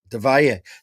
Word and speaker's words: Del Valle: But it's Spanish, so when there's a double L, it's pronounced like a J, so it's Del Valle. Del Valle.